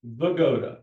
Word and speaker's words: Wygoda: Herman Wygoda was born in Offenbach, Germany on November 18, 1906 to Polish parents, Hanna and Meyer Wygoda. That's how Wygoda is pronounced in Europe.